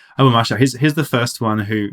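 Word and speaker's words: Abu Ma'shar: Abu Mashar, sorry, I should pronounce his name right. Abu Mashar, he's the first one who really we have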